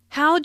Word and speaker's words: how'd: How'd your presentation? Notice the contraction for how did sounds like how'j and your sounds like your.